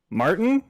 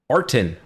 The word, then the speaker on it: Artin: name yeah your name my name is arton Martin no Artin syllable is dropping off Artin are to